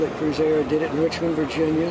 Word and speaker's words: Cruisair: A friend of mine said, call it Cruisair. It sounds like boating, and your name, Cruisair. But I was not so vain as to call it, so I named it Cruisar. Sounds the same, but it's spelled more in accord with both.